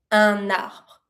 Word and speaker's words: un arbre: And you connect it cuz it starts with a vowel, un arbre.